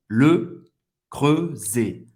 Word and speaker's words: Le Creuset: Le Creuset. Le fechado, creux fechado, Z mais aberto.